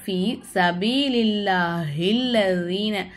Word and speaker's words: في سبيل الله الذين: அப்போது ஃபி சபீலில்லாஹில்லதீன, இங்கே பாருங்கள், சத்து செய்யப்பட்ட எழுத்துக்கு முன்னாடி இருக்கக்கூடிய எழுத்துல ஹரக்கத்து இல்லைன்னா அந்த எழுத்து நமக்கு உச்சரிப்பில் வராது, இந்த அலிஃப் நமக்கு உச்சரிப்பில் வராது.